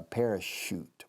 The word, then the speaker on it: parachute: She dared him to do a parachute. Parachute. La che suena SH inglesa.